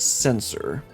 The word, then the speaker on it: censer: Okay, it's actually pronounced censor. Censor with a implied T sound in the middle.